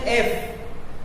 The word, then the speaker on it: F: ये जो एफ है इसका सही प्रोनाउंसिएशन एफ, लेकिन बहुत सारे बच्चे क्या करते हैं? यफ। ऐसा नहीं करते हैं, यफ। अगर कोई इस तरह का प्रोनाउंसिएशन करेगा यफ, तो उसका यहाँ पर आंसर गलत आएगा, वो यहाँ पर गलत लिखेगा, अ लिखेगा। और इसका सही प्रोनाउंसिएशन अगर आप बोलोगे एफ, तब आप क्या लिखोगे? एफ।